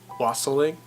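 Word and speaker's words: wassailing: and that said its it rhymes with fossil ink so Wassily fossil ink I don't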